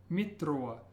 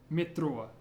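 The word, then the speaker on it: метро: one this is pronounced watch your r as a world R Mitra if you can't make a rolled R try saying it like a d Mitra mitrua means Metro how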